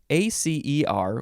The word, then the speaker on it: acer: So acer, I think that's how you pronounce it, is sharp.